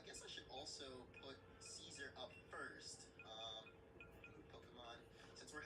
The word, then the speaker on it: Caesar: For right now, you will be Kaisar, or Caesar, which is the real way to pronounce it.